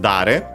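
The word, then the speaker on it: 誰: After that, we have dare, which is the interrogative, which means who, accented on the first syllable.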